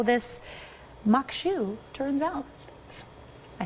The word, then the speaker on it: maque choux: in the show and find out how this mock shoe turns out I said it right yes we'll